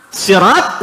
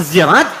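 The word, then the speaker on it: صراط: Pengucapan beda benda sama. Ini pun sama. Sirat zirat. Sirat maknanya sama.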